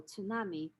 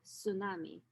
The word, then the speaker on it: tsunami: english language and so usually speakers of the language would drop the initial consonant and only leave tsunami instead of pronouncing it as tsunami which is very difficult for the native speaker the language a second way to